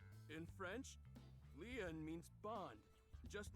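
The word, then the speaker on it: lien: your side that's it leon is spelled l-i-e-n in french leon means bond just like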